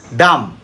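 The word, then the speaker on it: dumb: থাকা ঋণ next Lim অঙ্গপতঙ্গ এল আই এমবি উচ্চারণ করব না ডাম বোবাডি ইউএমবিডাম বি উচ্চারণ করব না এরকম অনেকেই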